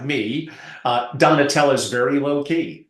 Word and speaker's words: Donatella: By the way, it's Donatella, Donatella, and her last name, Ciccarelli. Finally, I pronounced someone's last name correctly, I hope.